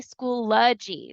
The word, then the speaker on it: Schoology: of it but um I come to find out with my first session it is act actually School ly so I was pronouncing